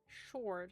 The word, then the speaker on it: sword: Sword. It should be s o r d, I guess.